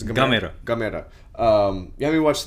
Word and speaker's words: Gamera: How do you pronounce it? It's Gamera.